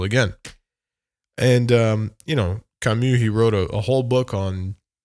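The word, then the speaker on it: Camus: know it's like uh you ready for the French pronunciation Albert kamu kamu um Albert kamu as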